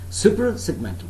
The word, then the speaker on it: suprasegmental: phoning all right now suprasegmentals super segmental please do not pronounce this word as supra it is not supra it's super segmental supra segmental is it clear now remember